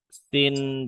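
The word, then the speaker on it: س: Huruf sin sukun dan shin sukun.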